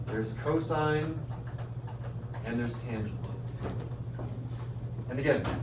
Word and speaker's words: cosine: Again, abbreviating cosine, we say C-O-S. We pronounce that cosine. You don't pronounce that cos.